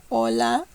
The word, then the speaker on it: hola: Okay, the letter H in Spanish is always silent. There's no sound at all in Spanish. Hola, hambre, hora. Always silent.